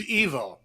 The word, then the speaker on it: Ivo: And my name is Evo. It's spelled IVO, but it's pronounced like an evolution EVO.